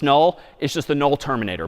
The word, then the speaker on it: NUL: N UL pronounced null is just the null terminator back/z.